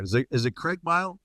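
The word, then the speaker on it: Craigmyle: you're from a town and I want to pronounce this right is it is it Craig mile Craig mile Alberta Craig mile Alberta very close to Hannah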